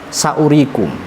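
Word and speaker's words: سأوريكم: Yang terakhir tadi terdapat di lafadz saurikum. Jadi wawu ada tetapi dianggap tidak ada. Dalam bahasa Arab yo wujuduhu ka'adami, adanya dianggap tidak ada. Saurikum u-nya dibaca pendek.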